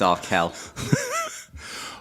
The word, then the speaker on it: Arkell: by being grumpy by telling you how to pronounce my name correctly it's our Kell I've not known Nick